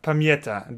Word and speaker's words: Pamięta: There's an N before the T for some reason, apparently. There is Pamięta. One. There is one. You mean I should actually write it, or it's just no, pronounced? No, it's pronounced, apparently. Hmm. Apparently that E adds an N on the end.